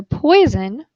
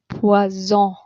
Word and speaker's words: poison: If you have one S in the middle of a word, the S sounds like a Z. Poison.